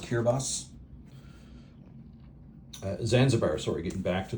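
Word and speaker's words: Kiribati: It's out of focus, but it's pronounced Kirabos.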